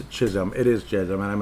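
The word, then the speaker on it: Chisholm: qualifying offer for Declan Crusom. I I keep saying it wrong. It's Chisum. It is Chisum. You know, all this time I I thought there was an R. There is no R.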